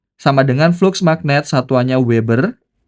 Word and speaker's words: Weber: Pi sama dengan flux magnet, satuannya Weber. Ini bacanya Weber karena yang menemukan Weber.